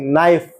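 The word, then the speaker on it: knife: लिए दिया गया पारिश्रमिक के साइलेंट के नाइफ चाकू नौक खटखटाना नकल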